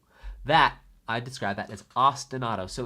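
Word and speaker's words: ostinato: I describe that as ostanado. So it's spelled Austin. There might be two T's there. Yeah. Austinado. And you say it like the city Austin. And then like a car. Austin auto.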